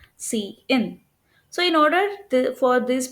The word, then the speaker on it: cin: So and also note that this is pronounced as C out whereas this is pronounced as C in.